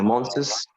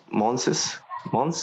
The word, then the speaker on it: month: مش احنا اتفقنا فوق إن الكلمة دي بتتنطق إزاي؟ months. لا month بس. الأس هنا ما بتتنطقش، يعني هي بتبقى مع التي اتش month، سواء مفرد أو جمع بننطقها زي بعض.